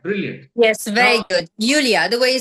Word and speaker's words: Iulia: people who said no, her name is pronounced as Yulia. There are some people said it's Lulia Vântur. I said don't confuse me right before the interview because what I heard is it's Yulia, and I'll confirm it myself with her.